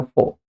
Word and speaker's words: for: ये एफ ओ आर इसका जो एक्चुअल एक्सेंट है वो है फो। र पे जोर नहीं देना है। तो र बहुत शॉर्ट बोलता है इट फॉर यू। वोवेल के बाद आर हमेशा साइलेंट रहता है।